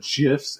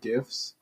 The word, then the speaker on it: GIF: Yeah, whenever they didn't know how to pronounce it, like when people said GIFs instead of GIFs, and it was really stupid. Yeah, like, it's not the peanut butter brand, come on.